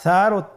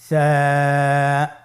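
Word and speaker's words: ثاء: ছিল 2টি নোক্তা, আর সারও 3টি নোক্তা রয়েছে, সেটা হলো তার উপরে। তাহলে 3 নোক্তাওয়ালা হরফটিকে কি বলে? সা। আবার বলুন সা। সা হরফটি বারিক মানে পাতলা করে উচ্চারণ করতে হবে।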